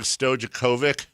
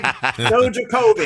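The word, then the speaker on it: Stojaković: That shows you, that was well before I started looking into drafts and stuff like that and learned that the J is not pronounced that way in European countries, right?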